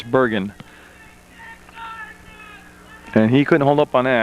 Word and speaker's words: Bergen: Bergen, out there, and he did say it's pronounced Bergen with a hard G. So I got a lot. I'm French, so I thought maybe it was like the Canadian version, but it's Bergen.